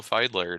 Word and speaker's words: Fiedler: folks today we are pleased to welcome feidler happy to have you here I'm so